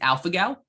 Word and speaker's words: alpha-gal: How do you pronounce that again? It's alpha-gal, ALPHA-GAL syndrome, alpha-gal syndrome.